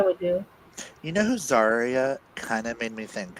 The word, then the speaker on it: Zarya: favorite character was probably um the main girl zarya is that how you say it zarya yeah yeah I really liked her because she